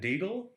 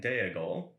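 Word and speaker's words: Déagol: he wrote things um smeagle and deigle are actually smeagol and diego eisenguard is easten guard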